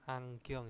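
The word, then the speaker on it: 안경: Eh valbon nah kacamata itu adalah anggong bacanya anggong Ya jangan e angong angong sebenarnya terus eh gubon kubon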